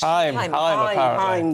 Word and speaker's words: Haim: I always pronounce their name wrong. But yes, Haim, that's it.